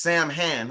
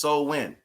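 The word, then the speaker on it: Samhain: so when it does look like it's uh pronounced Sam Han or Sam Hunt but it's so wind right and as you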